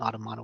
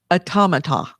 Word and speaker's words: Automata: but i didn't think automotive was that good no it's automata and i know that because i talked to the developer how do you say